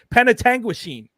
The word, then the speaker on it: Penetanguishene: name p penet tangu no I got it Penetanguishene yeah that's it penet Tangen that is the